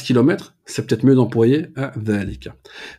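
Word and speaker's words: ذلك: c'est peut-être mieux d'employer dhalika. Dhalika, c'est comme hada. Il y a une prolongation qui n'est pas écrite, mais qui est prononcée.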